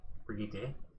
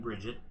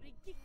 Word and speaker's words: Brigitte: So, Tuesday, new hero out today, Brigitte. Probably pronouncing it completely wrong. At least I'm not saying Bridget.